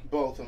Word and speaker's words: Botham: Botham. Botham.